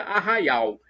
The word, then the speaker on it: Arraial: arraia no caipiras o a pronúncia do Arraial seria Arraial nós como é nós